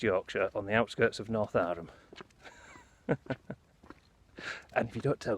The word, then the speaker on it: Northowram: Anyway, North Arham, or Northowram if you want to be. It's got a no in it, but local pronunciations.